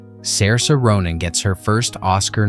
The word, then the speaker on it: Saoirse: Her name, for the record, is pronounced Saoirse.